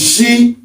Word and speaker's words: Ṣ: Okay, you pronounce it almost in the same way as if you were trying to tell somebody to be quiet. It's shh, it's she.